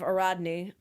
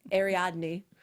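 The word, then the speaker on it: Ariadne: and the game is the legend of AR Rodney or aradne um depending on how you pronounce it I say aradne because I looked it up and that's how it says but prob not different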